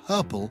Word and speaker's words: herple: or orange properly, but herple does rhyme with purple, and herple is what?